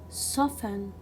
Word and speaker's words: soften: listen castle whistle belly soften fasten so in all these words we will not pronounce letter t why it is a